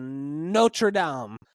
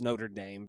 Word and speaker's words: Notre Dame: left tackle out of notredam I know it's Notre Dame but you know it just is more fun to pronounce it that way so why is this